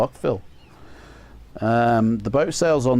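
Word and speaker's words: Fyll: Sorry, Phil. And Phil is spelled F Y L L, not like Phillip, you know.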